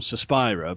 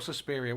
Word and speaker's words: Suspiria: Is it Suspiria or Suspiria? What's the correct pronunciation? I think it's Suspiria. That's more Italianate, and that's how I say it.